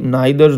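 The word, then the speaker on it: neither: Not only but also, আর কি আছে, ইদার অর বা আইদার অর, আর হচ্ছে কি নাইদার নর বা নিদার নর, ঠিক আছে, যে যেভাবে তোমরা উচ্চারণ করো সেটা।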